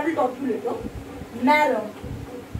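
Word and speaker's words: marron: Maron, maron, maron, same pronunciation, okay?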